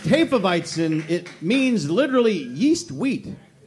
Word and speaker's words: Hefeweizen: Pronounced Hefeweizen, it means literally yeast wheat.